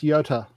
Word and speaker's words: Jota: the world endurance championship what's the spelling of that j-o-t-a then it's pronounced yota well it might be but everyone calls it joe or i think i